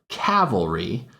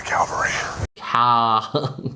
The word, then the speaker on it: cavalry: Woman, I am the cavalry. Cavalry is the wrong pronunciation. It should be cavalry.